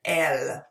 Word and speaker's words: elles: Notice that the S is silent at the end. So il and elle. Okay. Ici, j'ai trois exemples. Vous pouvez répéter. Je suis canadienne. Nous sommes étudiants. Et elles sont américaines.